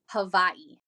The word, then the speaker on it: Hawaii: how we all say Hawaii yeah do you know how it's actually pronounced how Havi really yeah if you go if you go to Hawaii Hawaiian natives that's how they say it's Havi H isn't that crazy yeah